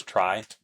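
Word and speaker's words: trie: think about here there's a data structure called a tree which some people pronounce as try to differentiate it from the regular tree and yeah I should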